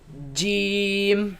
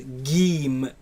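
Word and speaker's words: جيم: Jeem. And it is incorrect to pronounce it as geem with a g sound. No geem, right? In the Quran it's pronounced as jeem.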